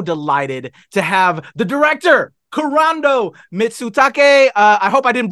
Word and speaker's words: Kurando Mitsutake: so excited so delighted to have the director corando mitsutake uh I hope I didn't brutalize your name no that was perfect pronunciation thank you so much for having me